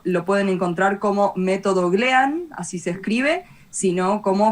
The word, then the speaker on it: Glean: Acuérdense, método Glean, no con G. Glean.